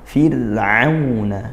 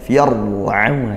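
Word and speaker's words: فرعون: Maka kita turunkan pangkal lidahnya, fir'auna, bukan fir'auna, itu tebal seperti itu. Kemudian getaran ra tidak perlu terlalu dilembutkan ya getarannya, tidak perlu wa fir'auna seperti mungkin kalau kita di Indonesia pelafalan huruf R tidak seperti itu, wa fir'auna di ujung lidah ke gusi belakang gigi seri atas seperti itu.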